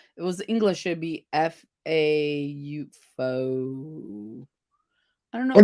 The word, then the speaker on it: faux: Because I thought somebody pronounced faux. I don't see how faux comes out of fox. You know, F-A-U-X, I think it's French.